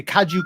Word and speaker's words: kaiju: you guys call him kaiji kaiji haiji hi kaiju yeah so she's a kaju killing badass basically that's the way i kind of pronounce it i actually just did a review